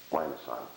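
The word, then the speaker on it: limaçon: are called um lions that's the Soft C Lon this one here is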